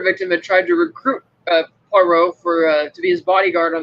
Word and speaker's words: Poirot: Say Poirot. I did say Poirot. No, you said Perot.